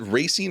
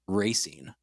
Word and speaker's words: Racine: believe in every instance the characters name him or pronounce his name racing yeah racing that's like maybe like